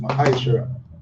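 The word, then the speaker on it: מעשר: and malachi chapter 3 verse 8 to 10 means think in the hebrew and is pronounced mahaisha 10 of every penny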